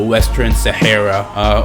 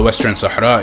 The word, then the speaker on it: Western Sahara: There's an area right next to Morocco called the Western Sahara, or the Western Sahara, if you say it right.